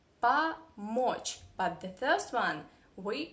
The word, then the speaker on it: помочь: I mean, if O is in unstressed position like here, we have two O, помочь, but the first one